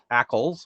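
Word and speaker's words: ACLs: describes a set of network axles which i now learn i'm supposed to pronounce that way in yang they're serialized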